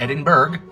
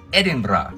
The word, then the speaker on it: Edinburgh: Edinburgh Edinburgh fellow Americans it is not Edinburgh it is not Edinburgh the capital of Scotland is Edinburgh it'll be amazing the people here that an